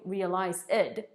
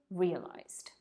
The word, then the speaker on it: realized: past of realize is realized notice that i'm not saying realize ed there's no additional syllable simply realized we realized there was